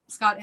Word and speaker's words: Scott Innes: Scott Innes. Is that right? Yep, Scott Innes.